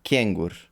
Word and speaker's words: kengur: talk about stress, so if the word is short, Mm-hmm. maybe up to 3 syllables. Mm-hmm. Um, up to 3 syllables. Then uh, it's stressed on or at, I guess, on the first syllable. Oh, So kengur, bolnica.